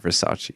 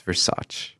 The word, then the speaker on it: Versace: It's actually not Versace. It's Versace. That's how they pronounce it.